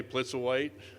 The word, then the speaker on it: Plitzuweit: lot of help but i've learned to say blitz or white and don't ask me